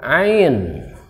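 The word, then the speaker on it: عين: bawah ini namanya huruf Ain Maaf tulisannya Ain Nah bukan huruf a Bukan tapi huruf Ain bukan huruf a huruf Ain kemudian ada yang sama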